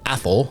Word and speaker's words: Athol: up AOL that's pronounced athl think but pronounce it like Mike Tyson would and that's how you get the pronunciation of that I've heard every pronunciation imaginable but that's the one athl population about 742 great